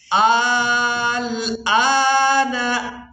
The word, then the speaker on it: الآن: وأنا من المسلمين الآن اس لفظ کے ہجے اس طرح سے کریں گے، حمزہ لام کھڑی زبر مد، آل، حمزہ کھڑی زبر آ، نون زبر نہ، الآن وقد عصيت قبل وكنت